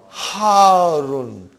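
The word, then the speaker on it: حارّ: Al-labanu harun. Harun. Because the shadda is on ra. So you got to pronounce it properly.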